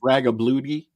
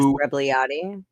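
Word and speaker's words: Rebagliati: Ross Ragabludi. I can't pronounce his name. Ross Rebliati. Thank you very much.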